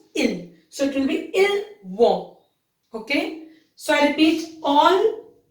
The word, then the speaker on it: ils vont: Here you will not pronounce S because it's not a vowel here. It's V. So it's ils vont, which means they go